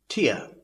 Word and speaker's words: tier: TIER is pronounced as Tear, T-H-E-R-M-O-M-E-T-E-R, is thermometer. M-O-T-I-F is motif, and D-E-V-E-L-O-P-M-E-N-T is development. Let's try to use these words in sentences. Tier.